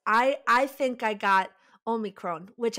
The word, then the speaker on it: omicron: i think i got omicron which i have to pronounce it like that because i'm greek you know like they're like omicron i'm like that's incorrect